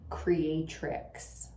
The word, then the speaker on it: Creatrix: look up the Quantum Creatrix, spelled with an X, tricks.